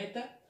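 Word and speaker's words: ήτα: La H era eta, se le pronunciaba eta.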